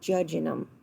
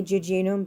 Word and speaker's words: jejunum: your jejunum okay or judging them and the pronunciations are different I say jejunum but again this is not the southern version of anatomy so the jejunum is